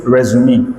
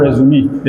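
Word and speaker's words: résumé: So it's a French word anyway. So that's some people do not know that it's pronounced resume. I think it's resume.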